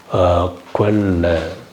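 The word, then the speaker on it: Quelle: கொல்ல ஊற்று அப்படின்னு சொல்லுவோம்ல குவெல்ல குவெல்ல குவெல்ல குவெல்ல இங்க வந்து குங்க கொஞ்சம் கொஞ்சம் குவெல்ல ரொம்ப இங்க வந்து கொஞ்சோண்டு குங்குற சவுண்ட் வரும் எனக்கு உ இருக்கு இருக்கறதுனால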